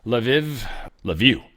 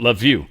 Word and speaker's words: Lviv: Lviv, that's the name of that one. Lviv.